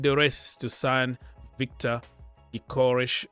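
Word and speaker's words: Gyökeres: race to sign Victor eorish or Y yores if you want to pronounce it correctly yores from sporting in 2025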